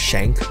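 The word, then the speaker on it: Schanck: other days we actually drove down to cape shank it's pronounced shank but as you can see it looks like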